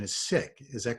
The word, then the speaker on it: Sikh: our communities to connect the correct pronunciation is sick so you'll help me